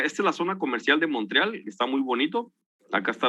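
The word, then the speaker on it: Montréal: tienen ellos acá no bueno Entonces en realidad Montreal o Monte real es la abreviación Monreal así se pronuncia allá le dicen pues significa Monte real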